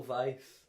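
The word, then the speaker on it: Weisz: Craig's new wife Rachel Vice right her yes ritual Vice yeah imagine a vice as in Vic just imagine that's how it's spelled but it's not oh I've I've alerted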